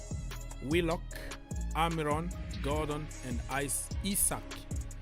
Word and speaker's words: Isak: amiron Gordon and Ice isak people keep on telling me don't say Isaac or whatever isach that's how it's pronounced ISAC isak right so they have a